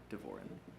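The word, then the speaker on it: Davoren: mine's and the last name I can spell it for you it's d-a-v-o-r-e-n devorin and if it's helpful to clarify as far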